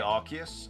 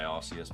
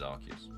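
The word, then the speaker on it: Arceus: How do I say Archus? Uh, like that. It's how it's pronounced in the anime. I know a lot of people say Arus, but I think the actual correct pronunciation is Archus.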